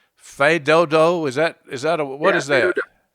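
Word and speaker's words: fais do-do: Fedodo. F-A-I-S-D-O-D-O is the way you see it spelled most of the time. Yeah. Fedodo. If you see a S, you don't pronounce it, right?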